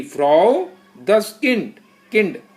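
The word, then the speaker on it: Kind: D Frau दस किंड, किंड last में डी जो होता है ना उसकी आवाज टा निकलती है, दस किंड, दस किंड।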